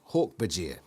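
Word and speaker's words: Hork-Bajir: a clumsy ape-like alien hortbegear pronounced hawk bajir seven foot tall snake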